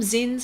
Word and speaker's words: zine: But when I did these zins, you call them zins or zines?